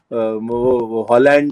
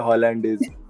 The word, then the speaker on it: hollandaise: right the sauce so the most common punjabi pronunciation that i get is holland is there another hollandaise you know like holland comes holland the country all our elders had